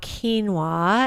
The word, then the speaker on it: quinoa: a dietitian so I'm going to talk about quinoa and that's how you say it quinoa is